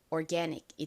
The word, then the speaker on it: organic: 먼저 OR은 무슨 소리 난다고요? or 소리 난다고 말씀드렸죠? or. 그리고 G는 기역 소리 나고요. 그리고 이 몸 A가 실제 미국식 원어 발음에서는 아 소리가 아니라 에 소리가 나요. 그리고 끝에 NIC는 닉 소리가 납니다. 그래서 읽어보면 organic이 됩니다.